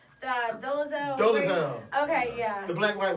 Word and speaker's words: Dolezal: How do you pronounce her name? Dolezal.